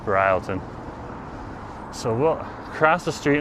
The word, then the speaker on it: Broughton: It's spelled Broughton, but it's pronounced Bryleton.